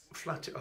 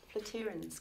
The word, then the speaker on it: Flatirons: Flatty Rons. Oh, well, that's because you're posh. Flatirons, Community Church.